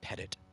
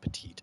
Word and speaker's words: Pettit: I think her name, actually, I think she says her name Pettit, not Petite. It looks like the word petite, but I think it's pronounced Pettit.